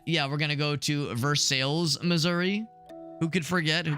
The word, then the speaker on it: Versailles: Yeah, Versailles. Yes, that's how people pronounce it.